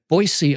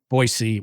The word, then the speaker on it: Boise: have gotten it right I knew a guy from boisey Once who was like no no no it's not Boise and I I might still be saying it wrong but I know it's not Boise I know that much anyway out there in Idaho